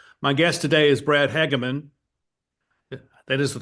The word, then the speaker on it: Hageman: My guest today is Brad Hageman. That is the correct pronunciation, right? Yes, Hageman. Yeah, Hageman.